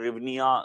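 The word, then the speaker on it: hryvnia: है वह हर्निया currency यहां पर चलती है रिव्निया इसका प्रोनाउंस कुछ ऐसा होता है यूनाइटेड अरब एमिरेट्स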